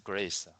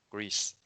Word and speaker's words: Greece: okay greece what's the grace greece greece yeah it has a long e sound grease very good all